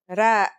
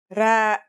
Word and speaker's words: ر: Our first letter is Ra. Its closest English counterpart is the letter R, but it's a different sound that must be learned.